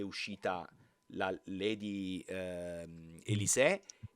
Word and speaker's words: Elis: Succede che di fatto Lady, Elisse, adesso non so neanche dove stanno la forse Elis perché l'accento sta sulla E, voglio essere preciso, ma non importa.